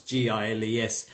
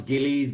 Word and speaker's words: Giles: It gets pronounced Giles, Gillies, Gilles, I Giles, bet. everything under the sun. Right? So depends on which part of UK you come from or which part of the world. Right. If you stem from the Asian areas, it's Gillies or Gilles. So yeah. Or if you're French, it's Gilles. So there you go.